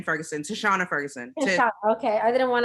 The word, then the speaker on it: Tishonna: doing what i'm sorry i don't want to mispronounce your name uh ferguson how do you say your name ferguson last name ferguson to shauna ferguson okay i didn't want him because i